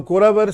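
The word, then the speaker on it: குரவர்: Here it's a very light type of pronouncing it. Ra. Very light. Soft ra. So Kuravar soft ra.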